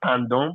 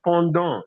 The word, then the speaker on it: pendant: Suisse, en Suisse pendant 4 ans. Why are you giving me Benin? I'm a Togolese French. I'm Benin. It's not pendant. Pendant. EN is on.